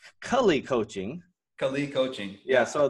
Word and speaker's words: Jay Kali: And if I get that right, it's Cully Coaching.